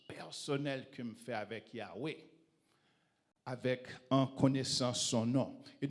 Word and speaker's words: Yahweh: Et ça, c'est le nom Yahvé. Yahvé ou prononcé Yahweh.